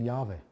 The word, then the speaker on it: Jahwe: Wir wissen es natürlich aus dem Hebräischen, es ist dieser YHWH, ausgesprochen Jahwe.